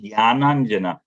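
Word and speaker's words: jñānāñjana: See, when it is J-N together, it's Gya. Om Ajnana Timirandasya Jnananjana.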